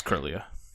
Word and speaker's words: Kirlia: I always pronounced it wrong, too, because I always wanted to put an extra I in there somewhere, but it's not there.